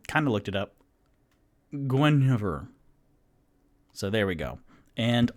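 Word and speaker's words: Guenhwyvar: ranger his panther is named g-u-e-n-h-w-y-v-e-r which is pronounced i kind of looked it up gwen over so there we go and r.a salvatore who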